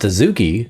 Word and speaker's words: adzuki: Pronounced Adzuki, its name comes from the Japanese language.